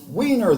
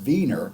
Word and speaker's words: wiener: him a wiener dog weiner though it should really be pronounced wiener it means something from vienna the capital of austria so two unacceptable names